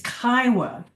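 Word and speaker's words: Kiowa: But yeah, think about Iowa with a K in front.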